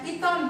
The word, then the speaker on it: Python: Tulisannya Python bacanya Python. Ini ini membantu kita untuk menyelesaikan persoalan setelah ada yang pernah pakai pemrograman iniah?